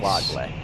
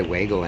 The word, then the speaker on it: Wadley: UCLA's are up on the website, so I know it's Wadley. Can I just say Wagle anyway? You may not.